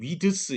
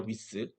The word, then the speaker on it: width: 이 width지 width 이렇게 발음하지 마세요. 네, width입니다. width.